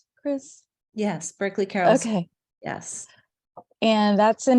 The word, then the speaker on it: Berkeley Carroll: from the Berkeley Carol uh School am I pronouncing that correct Chris yes Berkeley Carroll okay yes and that's in New York we're